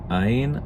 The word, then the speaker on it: ע: Áyin, it could be any vowel sound, basically. It's, in modern pronunciation, just guttural stop, so so áyin.